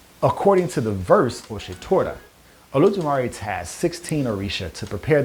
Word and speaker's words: Olodumare: In this spiritual tradition, there is one supreme god known as Olodumare, or sometimes pronounced Eledumare.